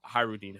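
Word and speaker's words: Hajrudin: Hadrudin. Or I also heard Hyrudin, however you want to pronounce it.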